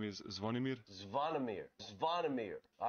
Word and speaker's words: Zvonimir: Pronounce just your first name. So my first name is Zvonimir.